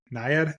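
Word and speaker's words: Nyad: Purple America Ferrera and Barbie jod Foster and NAD am I pronouncing that correctly yep yep and then deine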